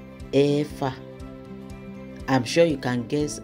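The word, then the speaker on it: ẹ̀fà: We say Efa. Efa.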